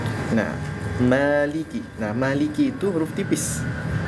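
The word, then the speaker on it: مَالِكِ: jangan ma Maliki Ma ingat kalau huruf tipis rahangnya pakai rahang tipis dimundurin ma ma lii ya terus maanya jangan lebih dari dua harakat saja Maliki Oke Maliki Maliki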